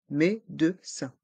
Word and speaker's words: médecin: rendezvous chez le médecin ici on entend plusieurs son différents le son en avec les lettres e et n r le son e avec les lettre E Z rang D et che le son ou dans vous avec les voyelles o et U et le son 1 à la fin de médecin médecin un rendez-vous chez le